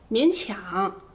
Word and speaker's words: 勉强: 第二个读音也只有一个词，勉强。